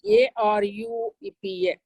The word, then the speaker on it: Arupa: It is A-R-U-P-A. Arupa, short vowel.